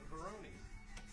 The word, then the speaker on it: Verone: So I'm Verone. V-A-R-O-N-E. And everyone's like, no, it's Verone. I'm like, no, you do the E at the end.